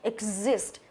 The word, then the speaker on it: exist: Tiếp theo những cái phương án khác này exist, đó, nhấn vào âm thứ hai, exist.